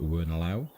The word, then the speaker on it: Wernolau: Thank you very much for the pronunciation before, and I call it Wernolau.